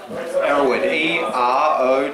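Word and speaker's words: Erowid: How do you say that? Arrowwood, E-R-O-W-I-D.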